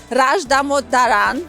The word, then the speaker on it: Dhamodharan: for a long time, Dhamodharan. I'm pronouncing it correctly. You're doing very good.